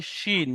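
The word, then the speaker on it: ش: Scene যদি হতো তাহলে কিন্তু এরকম তিনটে নোক্তা হতো, তার উপরে নোক্তা থাকতো, এটাকে বলা হয় শিন, মোটা করে তালবেশটা উচ্চারণ হয় শিন।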